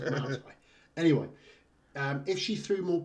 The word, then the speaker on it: Muay Thai: It's pronounced Muay Thai.